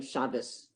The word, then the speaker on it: Shabbos: The one without the dot in Sephardic Hebrew, you still pronounce like a T, like Shabbat, instead of saying Shabbos.